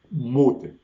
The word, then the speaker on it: mute: Y entonces por esa razón hago insistencia pronunciado al español, mute, que es ese alimento que efectivamente le dice silencio a alguien.